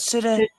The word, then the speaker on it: pseudoephedrine: Right, so this notes, right, okay, this how do you pronounce that? Pseudoephedrine.